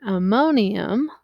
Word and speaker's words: ammonium: So in this case, you've got ammonium, which is this ion, NH4. It's on the list of things you need to just memorize, not to be confused with ammonia. Ammonium, 4 syllables, 4 H's, okay?